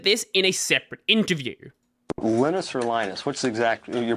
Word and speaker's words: Linus: is the most important Linus is correct and that's a perfectly fine pronunciation but lioness is also correct he understands that English speakers aren't used to a name like Linus or lenus so lioness